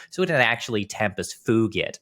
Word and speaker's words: fugit: well actually you see in Latin the G is actually hard and at least in classical Latin in ecclesiastical Latin you're allowed to pronounce it like a j so it an Tempest fugit not fuj yeah yes